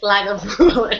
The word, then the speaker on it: Lagavulin: Oh, it's not Leafroy. It's Lagavulin. Lakavulin. I was like, how are you getting Leafroy out of that? Anyway, anyway, Twitter has shamed me into learning how to say it again.